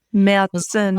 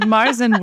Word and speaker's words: Märzen: Märzen. Likely... Is that how you say it? If you're in German. Okay. But Marzen works great. In fact, if you're ordering it at an American restaurant, I highly recommend calling it Marzen, because the waitress might